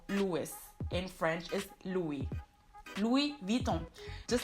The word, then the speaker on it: Louis Vuitton: a lot of times Louis Vuitton or Louis Vuitton, but in French it's actually Louis Vuitton. Louis Vuitton. Louis, you don't pronounce the S at the end because it's French, it's a silent S.